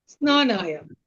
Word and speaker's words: स्नानाय: स्नानाय नहीं बोलेंगे। स्नानाय स्नानाय अ आपके कंठ में रहेगा।